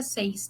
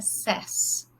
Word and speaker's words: says: pronúncia que não fica says, tá? Fica says. E play fica plays. Então, só atenção no say, fica say, I say, e she says, tá? Muda um pouquinho a pronúncia.